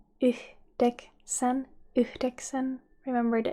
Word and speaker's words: yhdeksän: Remember to pronounce the H at the end of the first syllable. And in informal language you can say kasi. And 9 in Finnish is yhdeksän. Yhdeksän. Yhdeksän.